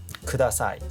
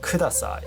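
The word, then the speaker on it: ください: So it's not Kudasai, okay? There is no stress.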